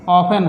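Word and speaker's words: often: उसी तरह ऑफन है, अंत में टेन आया तो टी को हमने साइलेंट कर दिया।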